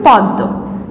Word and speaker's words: পদ্ম: উচ্চারণে বানান করার সময় পদ ম হলেও উচ্চারণের ক্ষেত্রে কিন্তু পদ্মই হয়, ঠিক আছে? আচ্ছা, তাহলে আমরা এটা কি উচ্চারণ করব? পদ্ম। কিন্তু বানান করব প দয়ে ময়ে যুক্ত, অর্থাৎ পদ্ম, কিন্তু বলার সময় বলবো পদ্ম।